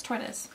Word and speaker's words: tortoise: let me just make sure tortois yeah it's tortoise so tortoise they are a tortoise pair I